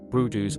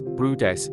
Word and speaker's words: Bryde's: The Bryde's whale, pronounced Brudus or sometimes Brudes, is one of the most enigmatic and agile baleen whales roaming the world's warmer oceans.